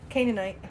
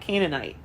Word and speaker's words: Canaanite: can do it I don't know how to pronounce this next one it's ca n EA ni te Canaanite Canaanite Canaanite Canaanite did you go to church no